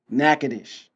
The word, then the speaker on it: Natchitoches: it Natchitoches Louisiana how do you say it nakadish Helen from Natchitoches Louisiana he earned a double